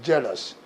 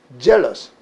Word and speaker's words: jealous: 그러니까 요거 경우는 조화음으로 발음하니까 젤 그런다. 질 그러지 않고 그 다음에 OU는 아우스 그러지 않고 강세가 없으니까 1번으로 약해져서 4, 1번이 돼서 jealous.